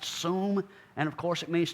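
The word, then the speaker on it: שׂוּם: front of them that is strongs number 7760 pronounced suum and of course it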